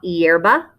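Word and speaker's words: hierba: the word for grass your h is silent la yerba la yerba a flower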